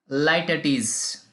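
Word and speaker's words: litotes: The correct pronunciation of this figures of speech is Laertes.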